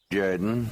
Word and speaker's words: Jordan: You're listening to It's Pronounced Jordan with Jeremy Henderson. This is Shug Jordan, coach of the Auburn Tigers. Say what? No. It's pronounced Jordan.